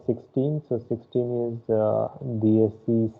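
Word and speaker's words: dieciséis: so 16 is the dsc says okay then you have dsc dsc pojo the pronunciation you have to be very clear here okay the letter is e which is pronounced as a so okay that is how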